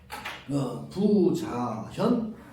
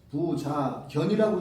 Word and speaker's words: 부자현: 부자현, 오명. 이제 견과 현 의미 두 개입니다. 부자견이라고 읽을 수 있고 부자현이라고 읽을 수 있어요. 여기서는 하상공주는 부자현이라고 됐어요.